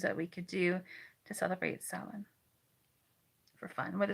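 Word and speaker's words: Samhain: spelled s m ha a i n it's pronounced Sal it literally means Summer's end um I'm always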